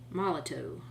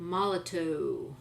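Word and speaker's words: Molotow: Well, it's probably because it's a Moloto, the original Moloto empty marker.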